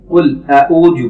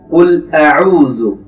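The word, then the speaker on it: قل أعوذ: আমরা এখানে সাধারণত যে ভুলটি করি, কুল আউযু পড়ি অনেকে, এখানে সঠিকটি হবে কুল আউযু। কুল আউযু, যখন কফটি উচ্চারণ করব, যেহেতু কফের উপর পেশ রয়েছে, ঠোঁটটি কুল হবে উ। কুল, এবং যখন লাম উচ্চারণ করব ঠোঁটটি ফ্ল্যাট হয়ে যাবে, মুখের অবস্থান একদম ফ্ল্যাট থাকবে।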